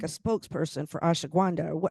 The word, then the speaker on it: ashwagandha: again, I'm like a spokesperson for ashwagandha.